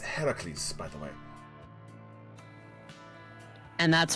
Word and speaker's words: Heracles: Hercules like don't call him cartoon like the Greek myth except it's actually pronounced Heracles by the way and that's why you don't call him that like in the anime.